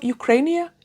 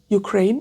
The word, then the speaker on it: Ukraine: I need I would also really like to know more about the the history of Ukrainia. Ukraine. Ukraine. Yeah, that's how you say it.